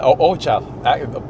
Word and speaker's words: Ojochal: And how long have you always lived in Ojochal? Am I saying that right? I mispronounced that. Yeah, Ojochal, perfect.